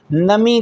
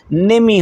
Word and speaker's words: نمی: کو کہا جاتا ہے، لہٰذا منفی کے لیے نمی کا لفظ تلفظ غلط ہے، یہ لفظ کا تلفظ نمی ہونا چاہیے، نون کے نیچے زیر ہونا چاہیے۔ سو جملہ یہ چہارم پرسش چہارم بفرمائید احمد دارد آشپزی میکند.